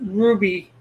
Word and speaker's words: RWBY: pronounce that with anyways there no real uh vowels in RWBY which is probably why they pronounce it Ruby because you is the closest vowel to w W can sort of